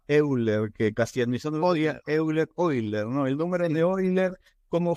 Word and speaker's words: Euler: quier acerca de el número de Cómo se pronuncia Euler que casi eiler no el número deiler Cómo fue la historia